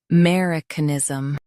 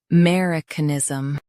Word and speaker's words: Americanism: Americanism Now, read the syllables shown on the screen naturally. uh mer i k ni zis um Americanism Stress mer and keep canism light.